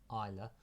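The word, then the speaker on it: Islay: the SE on island proun prounce on island pronounced Isa Rocky Southern Shore guarded by the imposing ruin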